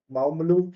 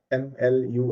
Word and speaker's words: Mawmluh: It's called Maoon Cave if I'm not pronouncing it correctly. It's got it's spelled as M A W M L U H. Mlu cave.